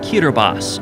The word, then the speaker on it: Kiribati: Half a world away are 33 picturesque islands which make up the Republic of Kiribati, or Kiribati as locals say.